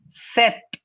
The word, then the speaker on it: sept: sees now it is set it's not sept it's not sep it's set that's it set oopsie